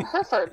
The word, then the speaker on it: Hereford: it when people say how do you say your last name hereford like the cow that that's a sad